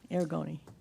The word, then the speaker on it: Aragoni: Aragoni. Aragoni? Aragoni. Aragoni, okay, is a duly authorized agent per section 12.2. Stephen? Yes, so I would just like to first mention that Aragoni, he has taken the Inland Wetlands training course